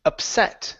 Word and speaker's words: upset: And our last word here is upset. So, the stress is at the end of the word instead of at the beginning.